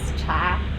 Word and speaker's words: 茶: in latin and actually the chinese pronunciation is cha so i hope everyone